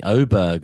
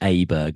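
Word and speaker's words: Åberg: And I got to say Oberg as well, which I've clarified this week that is close to the correct pronunciation and Aberg as I was calling him last year at the Ryder Cup.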